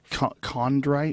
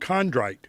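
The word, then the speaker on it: chondrite: Condrite. Condrite.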